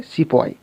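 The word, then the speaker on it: sepoy: और ब्रिटिशर्स इसे प्रोनाउंस करते थे, इसका उच्चारण करते थे सिपॉय।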